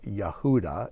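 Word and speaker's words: יהודה: you can see here in the name yahudah which is how Judah is pronounced you can see the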